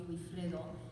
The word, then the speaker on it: Wifredo: So some of you may have wondered why he was missing his L in the name of Wifredo, but it's basically because it was easier in Spain, they just pronounce it Wifredo.